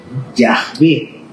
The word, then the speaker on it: Yahvé: Cuando va al final, no se pronuncia. Por eso algunos escriben Yahvé así como suena, sin la H al final.